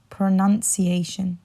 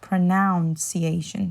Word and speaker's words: pronunciation: you would say is remember there's a nun in the middle right so pronun ciation